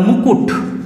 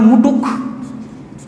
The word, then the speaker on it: মুকুট: করছে স্থানান্তর হল আবার ধর বললাম মুকুট মুকুট অনেকে উচ্চারণ করে মুটুক মুটুক দেখ ক আর ট নিজেদের জায়গা চেঞ্জ করে দিয়েছে এখানে হয়ে গেল এটা